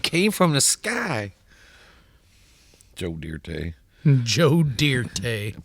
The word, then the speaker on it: Dirte: Joe Dirte. Joe Dirte. Put a little E on the end of it. Pronounce it Dirte.